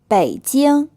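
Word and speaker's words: 北京: tones it means today bei deal this is the capital city of China it's pronounced with a third tone than a first time choose it now if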